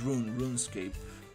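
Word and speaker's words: RuneScape: That's uh I think it's rune run escape. That's how you pronounce it. Not run from running but from rune.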